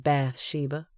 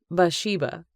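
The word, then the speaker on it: Bathsheba: word bath she laughed I don't think her name is pronounced that way it's more like bash sheiba with the tea being silent it's bath Sheba after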